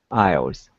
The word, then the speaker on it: isles: of those two lines our iris is uh s is silent isles yeah that first s